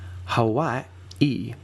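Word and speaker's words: Hawaiʻi: read it is that there's a hard stop between those two usually vowels, right? So, Hawaii e would let you know that there's a that those two eyes don't live together in the word in a word like skiing. Those two eyes live together.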